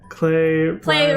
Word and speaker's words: Klei: Klei Rhymes with Klei. Klei.